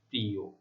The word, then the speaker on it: প্রিয়: ঠিক আছে, তারপরে দেখো শেষে অন্তস্থ অ রয়েছে, তার পূর্বে ই ধ্বনি রয়েছে, তাহলে শেষের অ এর উচ্চারণ ও এর মতো হচ্ছে, প্রিয়।